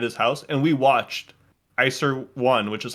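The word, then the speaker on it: Iczer: F eer Series so iser one which is spelled like i c z r is this like sci-fi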